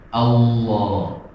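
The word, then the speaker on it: الله: Allah, Allah, Allah.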